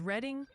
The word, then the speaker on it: Reading: It's Teague for Teague, like league, and reading, PA. Is reading. Just trying to help you score some extra credit, boss. I said Teague right. I know I did. And whenever I say both reading and reading, that means I got it right.